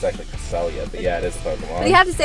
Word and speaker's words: Cresselia: I think it's actually Cresselia, but yeah, it is Pokemon.